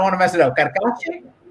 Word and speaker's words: Carcache: Melissa, how do you pronounce the last name? I don't want to mess it up. Carcache? Carcache.